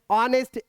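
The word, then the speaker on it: honest: से लिखा आएगा एंड ऑनेस्ट एच साइलेंट होता है नेस्ट नहीं पढ़ते हैं क्या ते ओ नेक्स्ट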